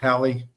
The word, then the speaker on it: Hallie: Let me pronounce that right, Hallie.